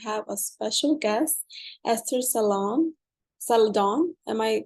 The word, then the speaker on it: Zeledón: Today we have a special guest, Esther Zeledon. Am I pronouncing it correctly? Yes, Zeledon, yeah.